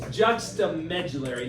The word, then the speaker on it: Juxtamedullary: Juxtamedullary, not.